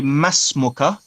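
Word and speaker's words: ما اسمك: is your name good or we could say MASS MoCA MASS MoCA because we don't pronounce that hamza to lhasa you only pronounce at the beginning of a sentence so MASS MoCA what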